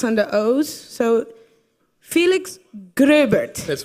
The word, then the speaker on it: Gröbert: Dutch, so I'm supposed to be able to pronounce this, but we don't get the dots and the O's, so Felix Gröbert.